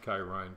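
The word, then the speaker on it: χαίρειν: The word greeting, kairine, and that's how it's pronounced, even though it looks different there. It's actually pronounced kairine because I got the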